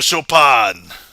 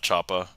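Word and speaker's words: Chopin: But then the followup is get to the shopan, you know, not chapa but shop. I know it's pronounced differently but spelled almost the same.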